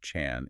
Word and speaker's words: Chan: They have traveled specifically to ask Jong about Zen pronounced Chan in Chinese and specifically about Zen philosophy or Zen mechanisms which is Chon Gi.